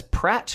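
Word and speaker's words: Praat: I would pronounce that as Pratt, which is a colloquialism for idiot in my part of the world.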